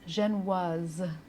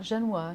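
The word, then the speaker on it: génoise: of my favorite cakes it's a French word but really easy to pronounce it's pronounced xenis not jenoa Jano so it's easier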